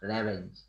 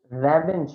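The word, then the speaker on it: revenge: এটাকে র্যাভেঞ্জ বলে না, ওটাকে কি বলে? আপনি প্রতিশোধের কথা বলছেন না? রিভেঞ্জ। রিভেঞ্জ, এক্স্যাক্টলি, এটাকে রিভেঞ্জ বলে।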